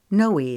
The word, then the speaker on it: Noe: to part with them holden wrote her nickname as n-o-e but he pronounced it as knowy like joey with an n she arched an eyebrow